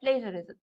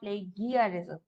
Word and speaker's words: plagiarism: It's called plagiarism, not plagiarism. Okay? The G is pronounced as genuine, not Guinea. Genuine. That G here. Okay, so I have to tell it because everybody is listening to that plagiarism.